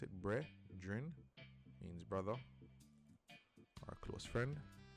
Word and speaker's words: Bredrin: So remember, Bredrin, says pronounce it Bredrin, means brother or close friend.